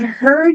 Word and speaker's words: heard: So, I've heard you're not American. So, I've heard, olha o H aqui no começo, som do nosso R forte.